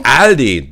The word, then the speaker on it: Aldi: In Germany, Aldi. That's how you pronounce it.